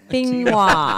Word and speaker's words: Benoit: Like, it's like quinoa, but it's Benoit.